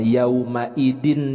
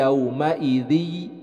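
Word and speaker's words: يومئذ: Jadi dibacanya bukan yauma idin yasduru, tapi yauma idzi.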